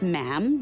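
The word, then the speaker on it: ma'am: and after that is just mam rhymes with jam and it's always a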